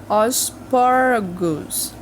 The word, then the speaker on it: asparagus: Asparagus. Asparagus. Asparagus. Quase não se fala aí as letrinhas do meio. Asparagus, certo?